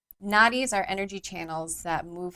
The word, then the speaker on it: nadi: We have a really cool shirt at the studio called naughty by nature but it's spelled nadi. I'm like what's up? That's just a little bit thug. I love it. Um so naughty naughty are energy channels that move through your body.